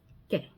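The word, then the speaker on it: que: Q U E K.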